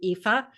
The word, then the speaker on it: Aoife: great, except for you, Aoife. And that is how you pronounce her name, by the way. If you're looking at it going, how do you pronounce that? That is how you pronounce it.